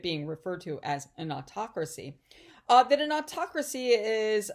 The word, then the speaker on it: autocracy: of government and so you see the word autocracy okay that's not how you pronounce it it's pronounced autocracy and you know that it has to do